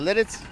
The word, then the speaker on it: Lititz: And then I need to know what's the proper way to say Lititz. Is it Lititz? Yes, Lititz.